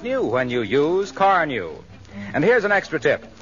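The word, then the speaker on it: Carnu: your car looks like new when you use car new and here's an extra tip if you want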